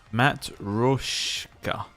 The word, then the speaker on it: Matryoshka: Matryoshka.